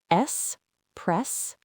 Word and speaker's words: espresso: Remember, it starts with an S. Repeat after us. S press O.